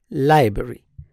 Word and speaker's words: library: on the first word the stress is on the first syllable and normally this sound in between is not pronounced so we say library library here again are